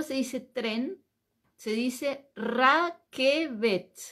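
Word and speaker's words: רכבת: eso es Cómo se dice tren se dice Raquel r a K e e b b de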